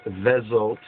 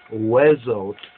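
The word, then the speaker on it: וזאת: The Ashkenazis pronounce it as Vezot, but the more proper biblical Hebrew would be Wezot HaBaraka.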